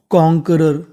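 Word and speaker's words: conqueror: पढ़ते हैं आर तो पूरी मीनिंग बन गई कॉनकरर क्या बन गई कॉनकरर क्यू यू ई इसे खाली पढ़ना है हमें का।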